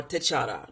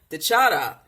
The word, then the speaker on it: T'Challa: T'Chara. Now, it's spelled T'Challa. But in Kemetic language, the L sound sounds, well, the R sound sounds very much like the L and the D when it's rolled, okay?